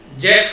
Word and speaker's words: Geoff: He pronounced as Jeff Lawton of Discover Permaculture.